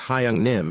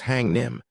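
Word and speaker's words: Hyung-nim: Imagine the bandit leader speaking with a twang as he mispronounces Hyung Nim and says Hang Nim, chapter 230.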